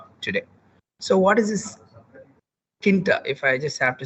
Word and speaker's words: Tkinter: Then let's look at what is Tkinter or Tkinter. T silent. If I put T as silent, because we can pronounce it as Tkinter.